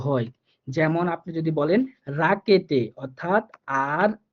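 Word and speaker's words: Rakete: আরেকটা হচ্ছে আরটা কখনো কখনো র এর মতো করে হয়, হ্যাঁ বিশেষ করে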